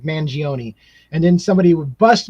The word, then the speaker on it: Mangione: I said Mangione, and then somebody would bust my balls. You need to learn how to pronounce it. It's Mangione, like kind of like an Italian, like Mangione.